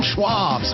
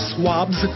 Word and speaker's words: Schwabs: and smoked sausages from Schwabs M oh man I love swabs it's Schwabs that's what I said swabs you're saying it wrong it's Schwabs that's what I said